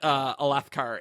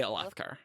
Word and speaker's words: Alethkar: No, I didn't put Alethkar in this PowerPoint, but I say Alethkar. I Yeah. say Alyx. Yeah, I think I say Althkar. Yeah, Wow. I'm a Lethkar. Second syllable. Yeah. Aleth, because then that's how you say Alethi? Yeah. Alethkar? Alethi. That makes sense. I to me. say Alethi. But what did you say?